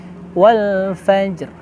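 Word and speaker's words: والفجر: Kadang-kadang kita sering menemukan kesalahan, yaitu Wal Fajr. Nah, tidak ya, tapi ada ro-nya Wal Fajr. Fajr. Dan tidak boleh terlalu banyak wal fajr, tidak boleh gitu ya.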